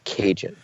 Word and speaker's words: Kajan: the name stuck so now if I want to keep ragin I have to keep Cajun so for every taste